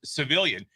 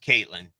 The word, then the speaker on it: CVIIILYN: office goes, "Oh, that's Civilian." So they went out and they were like, "Civilian, Civilian, Civilian," and then the girl finally stood up, like really kind of, like, that would be pronounced Caitlin.